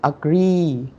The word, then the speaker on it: agree: Agree. Thì chữ A này nó không đọc là A nhá, mà đâu là âm ơ đúng không? Vâng Để ạ. trọng âm rơi vào âm tiết thứ hai nhá.